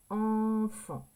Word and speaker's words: enfant: donc espace les enfant enfant le son en ça s'écrit comme ça enfant on entend le son F a n et ici il y a un T mais le t on ne l'entend pas et ici il y